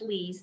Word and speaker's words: Lise: Yes, it's pronounced Lise. That's correct.